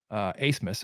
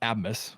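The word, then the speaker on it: Aßmus: Asmus is how you pronounce his name, by the way. That B is not actually a B. It's an S set from German, so it's double S. Okay. Not Abmus, as I called him the entire preview podcast.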